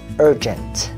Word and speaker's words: urgent: Trọng âm rơi vào âm số 1 đó là urgent.